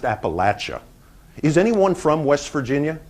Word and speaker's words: Appalachia: I want to talk about Appalachia which is pronounced Appalachia is anyone from West Virginia do we have